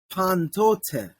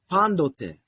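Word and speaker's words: πάντοτε: following the new uh it doesn't sound like pantote it's that Tav actually it's the one time in queene Greek where we get something close to a d pronunciation so it really sounds like pandote um all right yeah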